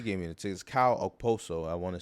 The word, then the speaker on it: Okposo: Kyle Okposo, I want to say is how you pronounce it. Okposo.